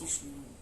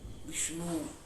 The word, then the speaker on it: विष्णु: विष्णु बोलते हैं, विष्णु नहीं, विष्णु दोनों मूर्धा हमको बोलना चाहिए।